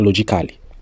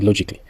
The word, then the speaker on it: logically: On dit pas logically. On dit logically, musically, on dit aussi musically.